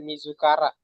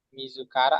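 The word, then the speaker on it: 自ら: Kalau dia berdiri sendiri kita baca Mizukara ya. Kalau berdiri sendiri, Mizukara artinya diri sendiri.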